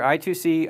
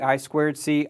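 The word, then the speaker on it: I²C: i2c by the way i2c is is pronounced many different ways you might hear i2c I squared c i squared iic whole bunch of different options I prefer i2c so I'm going to keep saying that we have SDA and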